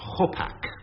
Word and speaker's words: hopak: What is a hopak? Hopak, or gopak, if you like. And in which country would you expect to find it? Hopak. A gopak.